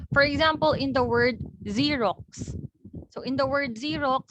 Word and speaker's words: Xerox: are sounded out differently for the first x you pronounce it with your sound which is similar to how you sound out your letter z in xerox so although we spell